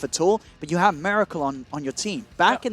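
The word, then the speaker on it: Miracle-: It's literally spelt Miracle. Well, I mean, it's Miracle. I actually had to teach myself. It's like saying America, but Miracle.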